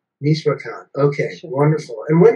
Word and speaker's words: Michoacán: you about how you've been, how do you pronounce that province in that state? Yeah, it's Michoacán. Michoacán, okay, sure.